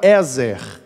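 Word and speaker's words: עֵזֶר: Tanto que a palavra usada aqui para auxiliadora é a palavra ezer, que a pronúncia seria gutural, né?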